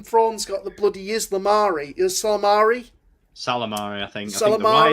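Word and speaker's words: Ysalamiri: Salamari? Salamari, I think. Salamari? I think the Y is silent.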